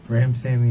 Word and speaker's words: Ramsawmy: How do you say your last name? Ram Sammy. The W.